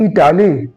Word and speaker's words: Italy: क्योंकि हमारे जो प्रोनाउंसिएशन, जो इटाली का स्पेलिंग है ITALY लिखता ना, लेकिन जो प्रोनाउंसिएशन होता है आई क्या होता है ना, इटाली बोलता है, ई का पहले पार्ट